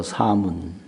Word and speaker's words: 사문: 출가해서 도를 닦는 분들을 인도 발음으로 사문이라고 해요. 사문. 그걸 쓰기는 모래사자 문문자 쓰는데 그 한자는 별 의미가 없고 음을 표기한 거니까 사문.